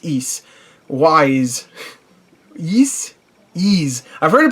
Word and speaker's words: Ys: 45 different things, and I've heard it pronounced so many different ways, and it's funny because it's a game that has Y and S in the title. That's it. That's literally it. But it's Ease.